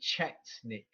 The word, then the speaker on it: Chetnik: There's a group of people called Jutniks, yes, that fought during the wars, and the name became famous in the 19th century. People pronounce it in different ways. In English, they'll say Chetnik.